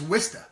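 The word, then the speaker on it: Worcester: you pronounce that what's that how would you pronounce it wor chse dr chesson watch up right no it is wisten wisten wisten bat I don't wake them up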